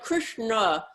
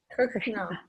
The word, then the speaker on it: Krishna: yeah okay so na so like Krishna the tongue is back there like as the tongue is it the tongue is at the the ASA is this the tongue is at on the teeth the back of the teeth Krishna is all like cereal kishish cere against the roof Krishna kishna so and just